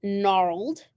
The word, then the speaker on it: gnarled: gnarled gnarled and so if I were sounding these out very phonetically I would say NR old so you would think that um it would start with an N but it doesn't there's two different sound